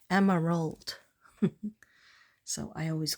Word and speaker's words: Emerald: And she said, no, give me 3 syllables. You can't afford to do 3 syllables, Katrina? I said, yes, you deserve it. Emerald.